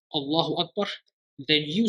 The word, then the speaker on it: Akbar: The first letter is what Arabs call Hamza al-Qata', which means the Hamza must be pronounced clearly. Allahu Akbar.